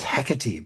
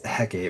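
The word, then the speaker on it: Hecate: cuz like her like Patreon deity is like Hectate, which is definitely not one of like the standard ones people know of. I learned that that's pronounced Hecati because of Hades, too.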